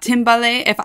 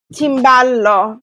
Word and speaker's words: timballo: I love how you have the macaroni and also the timbale. Am I pronouncing that correctly? Timballo.